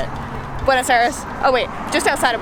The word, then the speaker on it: Buenos Aires: tour to Vegas that's how you say it Buenos Aires oh wait just outside of Buenos Aires in